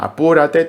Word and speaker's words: Apúrate: Apúrate на испанском языке, в слове Apúrate есть ударение на u и сильный слог - Apúrate.